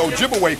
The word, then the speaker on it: Ojibwe: And of course, they corrupted the pronunciation of the Ojibwe people to Chippewa. So Chippewa and Ojibwe, that's the same people. But Chippewa is the European corruption of their real name, Ojibwe.